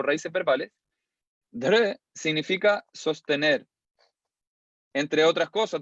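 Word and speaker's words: dhṛ: Entonces se pronuncia como dr, como si quisieran pronunciar una R sin vocal, aunque naturalmente emerge una pequeña I o una E. Dr.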